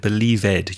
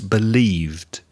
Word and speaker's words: believed: think yeah also alejandro be careful of your pronunciation of that e d verb believed you said believe ed you added an extra syllable no it's believed reza asked craig if